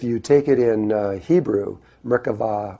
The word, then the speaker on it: Merkava: Well, the word Merkaba, actually, if you take it in Hebrew, Merkava or Merkaba is how it's said in Hebrew.